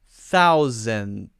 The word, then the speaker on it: thousandths: quickly as thousands thousands it's actually not correct to say thousands but if they're speaking very quickly a lot of native English speakers will do it thousands thousands just because they're being lazy but you should learn the correct way first before you do the lazy way so that's thousandths and you got to practice that mm-hmm duh but you hold the D so don't let it